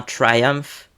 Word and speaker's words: Triumph: alors là on part sur un constructeur britannique Triumph ou Triumph en français tu dis comme tu veux mais en anglais anglais ça se prononce bien Triumph et donc c'est un principalement connu comme constructeur